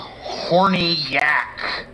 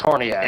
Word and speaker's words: Horniak: So Officer Ronald Horny-Yak. Is his real name Horny Yak? Horniac. Yeah, pretty Yes. much. Horniak. I think it's pronounced Horniak, but It's Horniak.